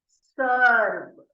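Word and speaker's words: serve: अगला word, last word हमारा सर्व। सर्व बोलते हैं हम लोग, ठीक है। और यहाँ पर साइलेंट है तो हम सर्व कहेंगे।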